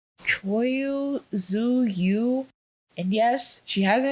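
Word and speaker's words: Tzuyu: The one I don't know if I'm pronouncing her name right, but it's Zuyu. I think her name is pronounced Choyu Zuyu.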